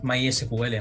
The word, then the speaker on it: MySQL: montería directamente un mysql my Secret directamente lo pronunció a mi forma pero también en inglés porque aquí en España se suele decir mysq directamente pero sé que alguna algunos países de latinoamérica pues pronunciéis mejor sí sí no perfecto porque